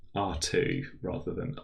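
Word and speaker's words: ℝ²: in the geometry course um and it is pronounced r2 rather RA than R squared quite often you'll also meet threedimensional space R3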